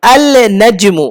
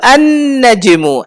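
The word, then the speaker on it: النجم: দেখুন, আল নাজমু উচ্চারণ করা কঠিন। আল নাজমু, লামের পরে নুন উচ্চারণ করা মুশকিল। আল নাজমু, এই জন্য কি করে দিয়েছে? আরে বাদ দে লাম, সরাসরি কি বল? আন নাজমু, আন নাজমু ওয়াশ-শাজারু ইয়াসজুদান।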